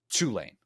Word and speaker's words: Tulane: Tulane, It's because Tulane. we talk like the Kool-Aid man. We just bust in with that first syllable, ready to go.